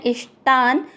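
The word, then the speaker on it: इष्टान्: पहला चरण ई के साथ आधा श इष्ट और टा के साथ आधा न इष्टान, भोगा गा के साथ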